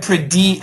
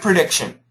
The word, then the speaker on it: prediction: You said predi a little bit more of an E. I want it shorter. Earthquake prediction.